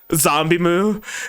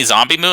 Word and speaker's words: ZomBmu: So it's and even back when it was just zombie, people would pronounce it as zom, like the word bomb, and so on.